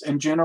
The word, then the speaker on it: Anjuna: Stephen, did I pronounce Anjuna right?